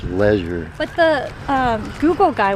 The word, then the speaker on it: Leger: Oh, they did leisure, not ledger. Yeah. Yeah. Well, leisure. Yeah, it is leisure. So, I was saying St. Lisier. L E G E R Leisure.